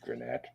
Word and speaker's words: Granette: So the Granite that's I would say that's pronounced Granette.